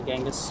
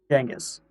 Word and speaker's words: Genghis: But I've heard Mongolians call him Genghis. The G is just spelled with a J, or pronounced with a J.